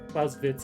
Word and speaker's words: Clausewitz: I think that the Clausewitz engine. I think that's how you would pronounce it. It's German, so I'm like, the W's sometimes are V's.